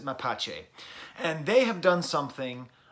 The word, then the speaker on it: Mapache: by the band mapache that comes from a Spanish word for raccoon so I am gonna be pronouncing it that way I believe John Wayne would pronounce it my patch but we're gonna pronounce it my patch a and they have done